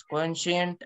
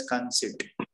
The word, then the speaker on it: conceit: So, and then the third word is actually conceit. That is pronounced as conceit.